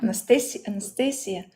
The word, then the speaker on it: Anastasia: In Spanish, it's Anastasia. Anastasia. Well, it's Anastasia or Nastya. Or they call me sometimes. Well, I'm fine with that because actually foreigners, they have some troubles pronouncing the name Anastasia.